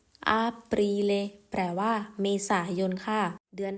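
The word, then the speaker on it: Aprile: ขวา นะ คะ ปา ภาษา อิตาลี เรียก ว่า อรีเล อรีเล แปล ว่า เมษายน ค่ะ เดือน ถัด ไป นั่น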